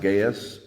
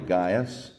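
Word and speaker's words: Gaius: his name is gas you may have heard him pronounced gaas but more properly gas this is a Christian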